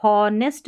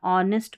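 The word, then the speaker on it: honest: फिर यहाँ पर देखिए इसको हॉनेस्ट नहीं पढ़ना, ऑनेस्ट पढ़ना, ऑनेस्ट ईमानदार।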